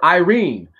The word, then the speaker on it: Yrene: Officer Irene, which is spelled Yrene, badge number 8564.